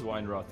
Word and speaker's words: Weinroth: Not Weinroth, Weinroth. It is Weinroth, actually. Is it Weinroth? Yeah, okay. Yeah, I pronounce it that way. Yeah. Weinroth. Yeah. All right, yeah. That's a bit more the Dutch way, actually, how it would be pronounced.